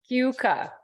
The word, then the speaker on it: Cayuga: So I one thing, want to correct your pronunciation slightly. Thank you. I don't live there. Sorry, so Elaine. No, thank you. Please do. I'm gonna type, this is how we tell people how to Okay, you have to say that though. Cayuga. Yucca. Two syllables. Oh, two Cuca. syllables. Okay, and Cuca. I'm focusing on the vowels, but I should focus on the consonants.